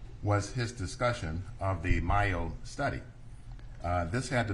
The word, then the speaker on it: Mayo: yeah the the the myo study is m-a-y-o it it it's as though it should be pronounced male 1 and and what